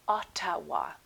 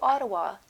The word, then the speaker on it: Ottawa: Notice I did not say Otawa the way it is spelled. I said Ottawa and that's how Canadian people say it. So Ottawa is the capital city